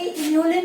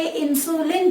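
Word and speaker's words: inulin: इसको प्रोनाउंसिएशन सही करना, इसकी इन्यूलिन है, बच्चे गलती से इंसुलिन पढ़ लेते हैं। पेपर में भी ध्यान से पढ़ना, इन्यूलिन है ये, इंसुलिन नहीं है।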